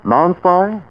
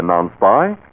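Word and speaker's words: Nonspi: and department stores now may I ask how you pronounce n-o-n-s-p-i well after hearing how everyone else pronounces non-spy I pronounce it bet this is the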